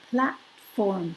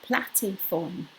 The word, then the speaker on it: platform: there, because in fact you're supposed to just say like platform, platform, platform, platform, and it all runs together, not platiform, which would be two syllables, plat, and then form, platform, and make a distinction between them. No, run them together, platform, platform.